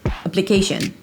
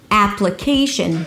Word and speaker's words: application: It's not pluh-KEI-sh'n. Application the primary stress here is the KEI syllable, ap-luh-KEI-sh'n but you want to emphasize a little bit the first syllable which is the secondary stress here it's the /a/ as in cat. So you gotta open your mouth, push your tongue forward and pull your lips to the sides - /a/, /ap/.